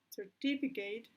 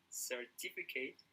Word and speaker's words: certificate: reputation certificate or reputation certificate reputation to me the right is repetition because in the word certificate and the stresses in in t certificate but I'm not sure